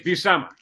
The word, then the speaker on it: Buscema: like inking but schema he's like it's b summer a super cool guy